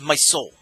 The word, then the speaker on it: MSOEL: It'll be known as MSOEL, pronounced my soul, or my soul if you say it fast.